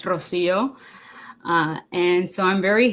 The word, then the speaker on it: Rocío: So, my name is Rosio. If you want to pronounce it in Spanish, it's Rosio.